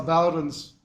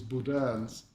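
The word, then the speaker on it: Boudin: it it tells how Bowens or actually the French pronunciation is Budan Bakery survived and thrived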